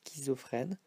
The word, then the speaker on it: schizophrène: It's for this one, it's pronounced sk sometimes, so as in schizophrène.